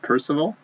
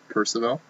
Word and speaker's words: Percival: first of all oh is that is it's pronounced percival percival you got a base card of marcel dion